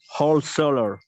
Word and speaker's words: wholesaler: Wholesaler. wholesaler. Wholesaler. Wholesaler. Wholesaler. Perfect. So remember that this is not an right? This is an e.